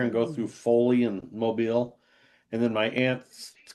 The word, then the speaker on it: Mobile: So, it's not something that moves. It's something that hangs down above a baby crib.